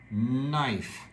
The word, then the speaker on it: knife: His mom gave him a, this word, the K has no sound, knife, and said, want to help.